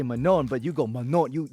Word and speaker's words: Manon: so for me like others say yeah it's Manan and I'm like no it's mano but yeah manol is